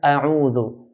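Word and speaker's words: أعوذ: Alif is pronounced from the bottom part of the throat, bottom part of the throat, and ayn from the middle part. So then u, a'u, not a'u, but a'u.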